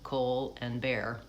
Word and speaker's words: Colbert: before he was famous, had to tell people to say his name like Cole and Bear.